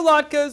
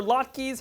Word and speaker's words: latkes: worlds crunchy and soft all right our potato latkes or latkes however you want to pronounce them are done let's drain off the